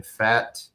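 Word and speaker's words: Pfaadt: Game two Tuesday will be Casey Mize against Brandon Fat. Um the P is silent.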